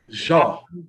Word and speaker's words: Jean: You could leave out the N. Jean.